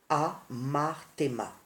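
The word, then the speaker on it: ἁμάρτημα: Le péché en grec se dit, n'est-ce pas, amarthéma, c'est-à-dire, il s'écrit H-A-M-A-R-T-E-M-A, qui signifie péché, mauvaise action.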